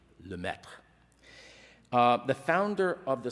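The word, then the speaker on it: Lemaître: named Georges Le meth French physicist friend of mine taught me how to pronounce that most most people say la Mater or lametra but I'm told that it's something like lemech uh the founder of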